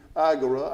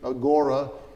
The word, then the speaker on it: agora: is this is the agura actually Agora is U or or the agura you you'll hear it pronounced both ways but this is the